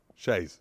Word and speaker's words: chaise: How do you say it? Shays. Chaise.